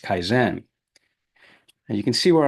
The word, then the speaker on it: kaizen: Now, if I can pronounce this correctly, the continuous improvement pillar of lean is pronounced kaizen.